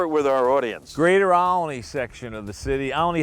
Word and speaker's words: Olney: Now you said Olney. It's really Olney. It's like Acme and two syllable. Yeah, it's Acme. very similar to Acme.